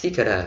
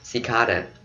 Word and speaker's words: cicada: Trọng âm rơi vào cái âm thứ hai, cicada. Ok, mình đọc cicada là sai ha, phải là cicada.